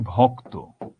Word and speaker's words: ভক্ত: যেই শেষ অংশটা, সেখানে সবসময় ওটা ওকারান্ত হয়ে যাবে। যেমন শক্ত, বা ধরো আমি একটা এক্সাম্পল দিই, ভক্ত, এটার উচ্চারণ কেমন হবে?